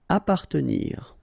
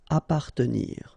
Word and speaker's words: appartenir: Appartenir. Okay, double P. Basically, you don't pronounce the double, so you just pronounce appa. Appartenir.